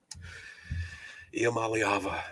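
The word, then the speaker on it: Iamaleava: Iamaliava.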